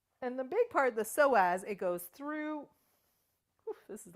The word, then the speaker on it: psoas: The psoas muscle, and it's spelled psoas, connects to the inside of your leg.